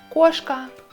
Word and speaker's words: кошка: Если буква О под ударением, мы читаем ее как О. Кошка, кошка. Но если О без ударения, мы читаем ее как А.